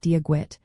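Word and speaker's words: Dia dhuit: A classic phrase is Diagwid, pronounced like Diagwit, which literally means God be with you.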